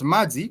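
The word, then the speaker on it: maji: from the vs that the Vel I is a English letter I but in becomes a vowel e so You' know that Mai would be ma e ma e that sound The Vow sound e is for the letter I I'm not sure you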